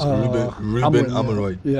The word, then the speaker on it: Amorim: So since Ruben, how do you even pronounce it? Ruben Amorim. Yeah, Amorim.